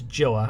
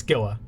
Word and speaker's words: Gila: I don't think it's Gila. I think it's Gila.